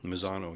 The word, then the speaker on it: Misano: Mini Cooper and am I saying it right Misano Italy Misano yeah yep Misano circuit Misano and italy one